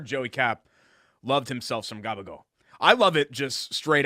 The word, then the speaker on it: gabagool: So you've got prosciutto, ham, salami, gabagool, lettuce, tomato, onion, provolone, peppers, oil. Gagabo? Cabacola. But gabagool. It's how you say it.